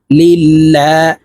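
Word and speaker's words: لله: লিল লাম খারাজ লা লিল্লাহ আল্লাহ শব্দের আগের হরফে জের হইলে এই লামকে লা অর্থাৎ পাতলা করিয়া পড়িতে হয় তো আমরা এই লাম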